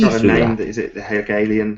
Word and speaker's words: Hegelian: Is it the Hegelian? How do you pronounce that? I can never quite pronounce that. Hegelian Dialectic.